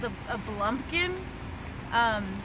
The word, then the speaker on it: blumpkin: it's called a a blumpkin um it's spelled b l m p blond King blump King ah blump King yes what is a Blum King sounds like pumpkin well it's actually uh